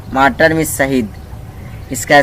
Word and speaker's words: martyr: माइटर means होता है मार्टर means शहीद, इसका स्पेलिंग होता है MARTYR मतलब शहीद।